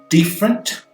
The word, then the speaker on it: different: Então você tem different, com stress lá na primeira sílaba, mas quando você transforma isso daí num verbo, to differentiate, você vai para a terceira sílaba, né?